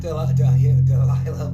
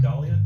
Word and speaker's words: Dahlia: Black Delilah Murder. My buddy Andy pointed out that I mispronounced some words, and now I'm fucking stuck in my head. Who is it? Black Dahlia? Yeah, thank you, Dahlia.